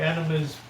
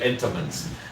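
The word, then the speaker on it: Entenmann's: The enemas, donuts, and all that. Enemas, entomans. What is it? Entomans, not enema. How do you say that? Entoman. Not enema.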